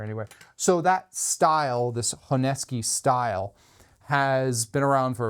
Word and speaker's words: Honesuki: For years, I called it a Honesuki until I was corrected that it's a Honesuki.